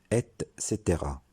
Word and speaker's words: et cetera: doute pas c'est que l'expression et cetera se prononcent est caetera et non avec ses terrains cette expression signifie